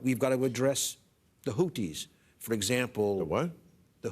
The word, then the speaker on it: Houthi: Well, it would look like it was Houthi. It's T-H. Houthi. You say Houki.